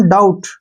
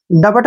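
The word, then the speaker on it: doubt: अब जैसे नेक्स्ट है डी ओ यू ji, sorry D ओ यू बी टी, ठीक है ना, टी से पहले फिर क्या आ गया? बी, तो बी का प्रोनाउंस हम नहीं करेंगे, इसको पढ़ेंगे हम डाउट। डबट नहीं पढ़ना है, डाउट पढ़ेंगे इसको, ठीक है ना, डाउट।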